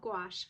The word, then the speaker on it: gouache: It's called gouache. For a while, I was not sure if I was saying that word right, but it rhymes with squash, if that helps you remember.